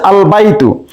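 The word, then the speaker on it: البيت: প্রথমে বলা হচ্ছে আল বাইতু, এখানে দেখা যাচ্ছে যে আলিফ লামের লামটি উচ্চারণ হচ্ছে, তাহলে এটা হুরুফুল কমারিয়া আল বাইতু।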